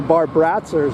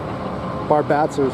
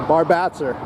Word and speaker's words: Barb Batzer: January 9th, talking to Barb Bratzer's wife. Barb Batzers. What's your name? Susie. Susie. Thanks, Susie. She's uh I got a pronunciation lesson to take the R out. So, Barbatzer.